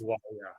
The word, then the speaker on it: McGuire: Am I pronouncing this right? McGuire. That's correct. McGuire.